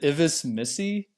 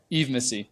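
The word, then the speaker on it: Yves Missi: Is it Ivis Missy? I don't know how to pronounce it. Eve. Just Eve. Okay. Eve Missy.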